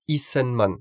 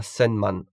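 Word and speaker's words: 一千万: Attention, ici on prononce issenman et non pas senman.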